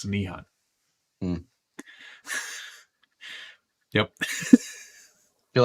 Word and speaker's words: Nihon: So that's it's a Japanese dialect for Nihon, which is how you say Japan in Japanese.